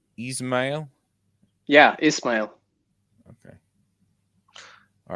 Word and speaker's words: Ismail: I pronounce it Ismail, but usually people have their own pronunciation.